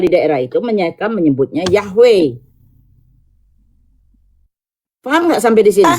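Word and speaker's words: Yahweh: Pelafalannya pronouns-nya adalah Yahwe. Ada yang pelafalannya Yahwah. Yahwah itu adalah berdasarkan lidah.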